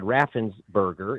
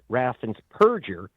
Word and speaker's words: Raffensperger: So does his Secretary of State, whose name is mispronounced as Brad Raffensperger. It's Raffensperger. He is the Purgeon General of Georgia.